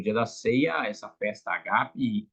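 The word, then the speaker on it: ἀγάπη: a palavra para ágape, mas no grego o acento não é no A do ágape, mas então é agape, né? A sílaba tônica no português mudou um pouco. Então falamos errado, de certa forma, né? No grego seria agape.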